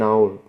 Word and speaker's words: hour: An hour. Yeah. Because the H is silent, so you just look at here, it says hour, so hour starts with a vowel, which means, okay, it cannot be the anymore.